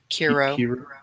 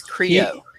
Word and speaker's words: Creo: What'd I say? Kiro. Like Karo syrup, but it's Creo.